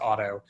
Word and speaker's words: Addo: whose restaurant is called edo what's called auto actually it's spelled addo pronounced auto and it's always been